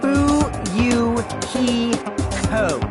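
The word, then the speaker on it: Fuyuhiko: last name is my first name is pronounced boo you ki ho I'm still an inexperienced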